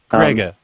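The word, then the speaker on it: Gregg: It is not pronounced. What did you decide that G-R-E-G-G was pronounced Grega?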